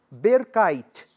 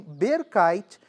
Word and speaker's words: berkait: Aí ele se chama pantum berkaite. B E R K A I T. Pantum berkaite. É esse tipo de pantum, o pantum berkaite, que vai originar a forma de pantum que